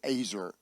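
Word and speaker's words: עזר: Ezra ezer easy IR but you say it azer is how it's pronounced that's why I always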